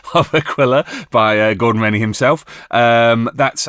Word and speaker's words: Aquila: I was corrected on the pronunciation of Aquila by Gordon Rennie himself.